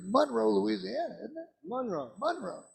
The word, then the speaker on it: Monroe: Monroe, with an accent on the Mon.